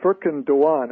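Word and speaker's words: Furkan Doğan: It is Furkan Dogan, as I understand it, in terms of the Turkish pronunciation. He's of course, of Turkish descent. As an American, probably Dogan is just fine.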